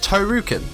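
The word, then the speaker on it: トールキン: Here is the spelling for Tolkien, which is pronounced as Tohrukin, and here is the spelling for Tohru.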